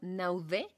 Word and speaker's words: Naudé: Hubo un estudio que hizo una doctora en psicología llamada Lucelle Naudé, con acento en la E, de la Universidad del